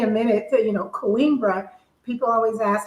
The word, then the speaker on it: Coimbra: Yeah, because when you say Coimbra, I I think queen.